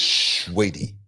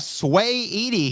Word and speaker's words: Saweetie: Yeah, you gotta say it like this, sweetie. I like the commentators. You know, they didn't know who she was. They were like, "We have Sway Edie here tonight."